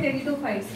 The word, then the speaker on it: Pteridophytes: पी is silent here. टेरिडोफाइट्स, gymnosperms, and then angiosperms।